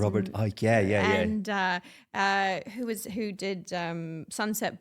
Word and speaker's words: Robert Icke: Robert Icke, yeah.